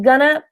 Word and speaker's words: gonna: before dinner yesterday I'm gonna have remember going to is how you should write it but the pronunciation of going to do something is gonna I'm gonna check out